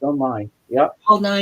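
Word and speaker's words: Nighy: Belie Y is a science guy. No, not that guy. It's another guy. It's spelled N I G H Y.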